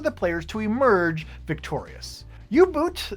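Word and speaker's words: U-Boot: players to emerge Victorious you boot the board game as it is actually spelled and not ubot or ubot as I have been mispronouncing it this entire time reached spot number 31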